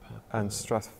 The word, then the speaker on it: Strathpeffer: So we're playing in Dumfries and Stirling, Strathpeffer. How do you pronounce it? Strathpeffer.